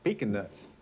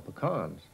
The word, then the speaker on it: pecan: Indeed, they don't even pronounce its name correctly. No, over here they call them pecan nuts. Over in the States, we call them pecans.